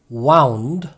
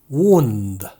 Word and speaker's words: wound: 앞에 것은 wound, 뒤에 것은 wound 라고 읽습니다.